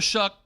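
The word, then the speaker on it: Shough: The Saints, look, Tyler Shuck, who's got a weird pronunciation of his name, but that's fine. It's supposed to be Tyler Show, but nonetheless, Tyler Shuck.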